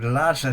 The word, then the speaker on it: Lasa: But Lassa spelled L A SA. but with the same pronunciation of course is or rather was a goddess.